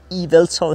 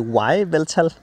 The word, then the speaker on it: Yveltal: det, vi bruger imod Eveltoad her. Så jeg skal udtale som dobbelt E i stedet for et Y. Ellers ville på engelsk ville dit Y hedde Y, og så ville det hedde Y-Veltal.